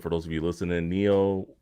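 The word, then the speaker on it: Nioh: So for the most part, Neo 1 and 2, or I think that's how you say it.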